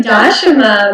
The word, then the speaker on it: Dashama: here we are with dasama am I pronouncing it properly I'm always wondering if pronounce it properly it's actually dashima my mother would say but you know people say it many ways that's fine for me